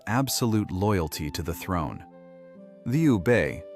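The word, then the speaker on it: Liu Bei: Liu Bay, pronounced Leo Bay, who claimed descent from the Han imperial family, was cast in that role.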